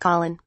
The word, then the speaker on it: Khalen: milestone when his name pronounced Colin as noted by his Twitter handle at Colin op Kaelin